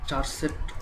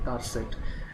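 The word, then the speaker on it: charset: আসলে এটিকে চারসেট কেউ বলে, আবার কেউ বলে কারসেট। আসলে কারসেটটা হচ্ছে মেইন উচ্চারণ, যেমন ক্যারেক্টার সেট।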